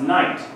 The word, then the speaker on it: knight: no this is pronounced night don't worry the K is silent well why would you